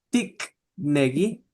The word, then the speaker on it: tikneki: pero nosotros decimos Gesgi Tiknegi, ¿sí? Esta K la pronunciamos como G porque está en medio de vocales, pero allá ellos decían Gesgi Pero no Tikneki.